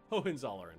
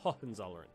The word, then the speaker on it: Hohenzollern: That ho is pronounced ho. Hohenzollern? Okay, good to know. Hohenzollern, not Hohenzollern.